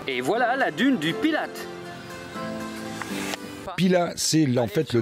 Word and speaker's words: Pilat: Le T ne se prononce pas, mais ça, bien sûr, ça n'est pas écrit sur Wikipédia. Et voilà la dune du Pilate.